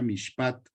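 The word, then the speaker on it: מִשְׁפָּט: Juicio es la H4941 que se pronuncia mishpat.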